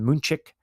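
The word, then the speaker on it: München: They are London, Madrid, um you know, um um Dublin, uh Mexico City, uh you know, Munich or they properly pronounce it, Moonchick.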